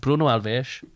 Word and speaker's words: Bruno Alves: Because they pronounce S's as SH. So it's like Bruno Alves, Ruben Neves.